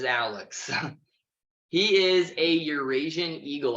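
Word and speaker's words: Owlex: owl Alex and yes that is spelled o-w-l-e-x it is Alex he is a Eurasian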